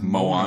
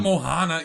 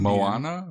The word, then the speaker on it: Moana: Well, Moana- it's I definitely think not it's Moana, Moana. you white piece I of said Moana. Mohana. It's not Mohana either. It's What is it? Hawaiian, not Indian. Moana?